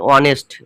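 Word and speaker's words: honest: মানে এইচ এর উচ্চারণটা হচ্ছে কি হচ্ছে না নাকি শুরুটা হচ্ছে ওদিয়ে দেখো কি হচ্ছে অনেস্ট তাহলে অনেস্ট মানে কিন্তু এখানে এইচটার উচ্চারণ হচ্ছে না এইটা নামে মাত্র আছে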